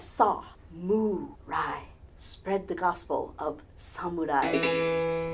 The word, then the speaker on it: samurai: first a saw not Uncle Sam saw what does a cow say moo Ry like a good reuben sandwich on rye bread if you think of it and break it down into those three syllables you have saw muai spread the gospel of